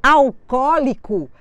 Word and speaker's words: alcoólico: são acentuadas só que quando eu escrevo alcoólico alcoólico eu tenho cinco sílabas eu só posso acentuar até a anti penúltima alcoólico o meu acento será no segundo o da palavra o meu au se